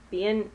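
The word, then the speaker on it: Bienfait: lancome um and i don't even know how to pronounce this lancome line it's the uh being being fake being it's spelled b-i-e-n-f-a-i-t i've seen it i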